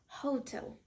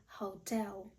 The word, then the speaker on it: hotel: множині просто knowledge незлічувальне наступне розповсюджене слово - це казати на готель Hotel правильно буде Hotel як і в українській мові наголос на другий склад Hotel I lived in